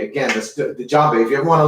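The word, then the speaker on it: djembe: it's it's spelled d-j-e-m-b-e the d is silent there once again that spelling is d j e m b e okay john bay okay and this particular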